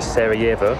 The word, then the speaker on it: Sarajevo: Made it into Sarajevo, as it's actually pronounced. I could call it Sarajevo.